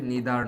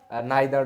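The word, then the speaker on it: neither: উচ্চারণটা আরো আছে হচ্ছে নিদার নর নিদার নর যেটাকে আমরা নাইদার নরও বলি এবং নট অনলি বাট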